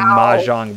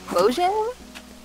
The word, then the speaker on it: Mojang: was bought from a Mahjong website for $10. Wow. Yeah. Mojang? Mahjong. What? What's up? Mahjong. Yeah, but that's not how they say it. It's like the game, Mahjong.